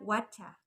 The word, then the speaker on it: whatcha: Wacha itu adalah singkatan dari what are you gitu ya. Dia what are you kemudian dibacanya wacha.